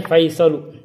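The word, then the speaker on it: فيصل: Al-mudarrisu akatabtal ajwibata ya Faisalu, bacanya Faisalu, apakah kamu telah menulis jawaban wahai Faisal?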